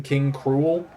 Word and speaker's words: King K. Rool: King K. Rool is spelled the exact same way in Japanese, but they just call him King Cruel. Which I'm like, I get it, but that's the point of the pun. Like, you just said the pun instead of letting it be a pun. I don't know. But he's one of them. It's spelled the same way, but it's King Cruel.